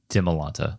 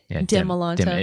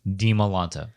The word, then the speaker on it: Dimalanta: A lot of people say Dimalanta, like Demi. Yeah, Dimalanta. It's pronounce it like you're reading Spanish. Yeah, Dimalanta. A hard E sound with the I.